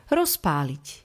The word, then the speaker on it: rozpáliť: B ale vyslovujeme p rozpáliť píšeme z ale vyslovujeme s podľa znelosti delíme hlásku